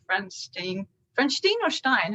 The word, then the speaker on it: Stiene: Frans Stiene or Stein? How do you say your surname? Stiene. Stiene.